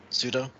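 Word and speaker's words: Tsuto: pronounce his name right just just skip the first t yeah pseudo yeah and uh just uh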